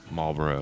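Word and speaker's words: Marlborough: moratoriums until next year Marlboro Marlboro like the cigarette Marlboro it's spelled differently is still considering a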